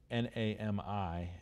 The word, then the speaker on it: NAMI: the first same and it's not me not Naomi but I get that corrected here but I Nami and that stands for